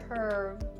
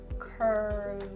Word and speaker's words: curve: So when you're doing the V sound, you should feel the vibrations. Curve. It's just a slight vibration, all right? So again, don't over enunciate the sound. Just a little vibration. Curve.